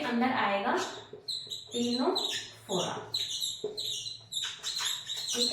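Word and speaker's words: Ctenophora: silent रहता है तो ट से टिश्यू ट से टीनो फोरा ठीक है लेकिन हम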